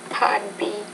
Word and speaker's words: part: part B Part B you need to pronounce the p with more air I completed my bachelor